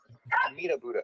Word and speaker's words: Amitabha: Meat a Buddha. Goodness. And it's really funny because we call it Buddha, but the spelling is definitely not Buddha. So it's spelled Amitabha.